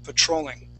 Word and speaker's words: patrolling: So the mistake is the T. Because I don't say the T like you. You're going to... Like you. Yes. Cheer. Petrol. Exactly. Petroleum. You treat it more like petroleum. A CH. Yes, yes. We say patrol, patrolling. That's how we would say that.